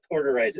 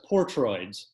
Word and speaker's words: Portroids: Yeah, so one of the most fascinating things that you have done is the Portoids. Am I saying that correctly, by the way? No, it's Portroids.